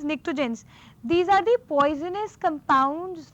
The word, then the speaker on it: pnictogens: In the spelling you have P is silent. P is there, which is like silent. So what you have is pnictogens.